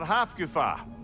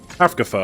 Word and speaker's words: Hafgufa: Another Hafgufa. Hafkafa, I was saying it wrong.